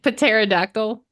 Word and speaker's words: pterodactyl: no isn't it like pterodactyl oh yeah can you spell pterodactyl now don't recall doesn't it start with like a silent letter yes you have silent